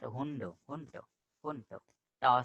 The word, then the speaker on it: Hund: But if ending, it is not hundo, hunto, hunto. Ta sound. Ending D is ta sound.